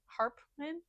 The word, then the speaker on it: Harpman: And that is I who have never known men by Jacqueline Hartman. Harpman. I also like had her name wrong for most of the times that I've mentioned this book.